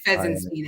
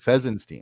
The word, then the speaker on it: Fesinstine: I always said Fesinstine, and then I looked at the spelling, and I'm like, oh, it's no IEN, or it's INE, but that's like the Sistine Chapel, right? That's how that's spelled. It's Fesinstine, actually.